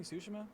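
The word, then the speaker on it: Tsushima: Have I be pronouncing Sushima correctly this entire time?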